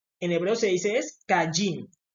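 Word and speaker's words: קין: no es Caín sino que así así se pronuncia en español pero en hebreo se dice es cayin kajin y de kajin viene quién mis rayin que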